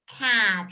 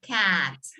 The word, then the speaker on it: cat: Y el animal es cat, la boca bien abierta, cat.